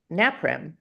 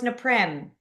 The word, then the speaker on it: Naprim: They go naprim. Napim. Yep. And I'm like, "No, it's neprim."